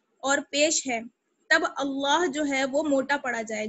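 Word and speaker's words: الله: زبر کی وجہ سے ہم اللہ کو موٹا پڑھیں گے. اللہ.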